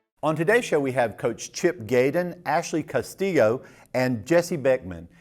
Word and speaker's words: Castillo: I always want to do the Castillo, but that's not right, is it? Well, in Spanish it's Castillo, so you could say it both ways. Okay, but Castillo.